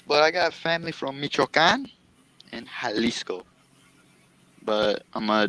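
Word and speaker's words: Michoacán: It's called Michoacan. You're supposed to pronounce like Michigama. Michoacan. It's Michoacan.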